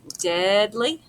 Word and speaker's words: deadly: Deadly. The EA. It doesn't make a long E sound.